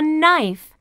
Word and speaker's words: knife: learn this is a knife what's the beginning sound in knife that's right knife can you hear the k sound in knife no that's right the K is silent knife this boy can